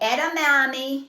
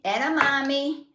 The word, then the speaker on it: edamame: idea now this is my choice it's called edamame edamame I had to look up how to say